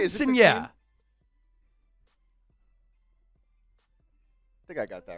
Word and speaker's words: quinceañera: Quinceañera. Did I get that right? Quinceañera.